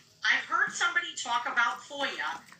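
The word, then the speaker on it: FOIA: I heard somebody talk about FOYA. How do you spell it and what is it?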